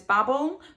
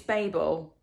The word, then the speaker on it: Babel: I finished Babel apologies I know previously in this video I've called this Babble but it's Babel I believe well that's what